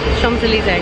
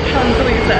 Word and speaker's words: Champs-Élysées: It's got an M and a P in it, so I literally don't know how to say it. You don't pronounce them. Champs-Élysées. Champs-Élysées.